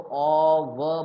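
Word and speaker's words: of: जैसे ये लिखा है, इसको ऑ व बोलते हैं, आप लोग ऑफ बोलते हो, ये ऑफ बोलोगे तो ये हो गया।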